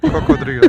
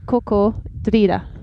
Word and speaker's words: cocodrilo: Cocodrilo. Cocodrilo. Oh, cocodrilo. So the R moves in Spanish from where you got it in English. I mean, it moves 2 syllables.